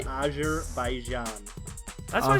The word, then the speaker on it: Azerbaijan: It's an Eastern European country, and it's pronounced Azerbaijan.